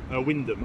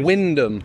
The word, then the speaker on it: Wymondham: Well, how do you pronounce it? Wyndham. I know. Wyndham. Yeah, okay. Tell me about it. So it's Wymondham.